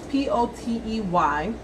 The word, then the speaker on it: Potey: It can be Potey, Potty, Potey, but it's Potey.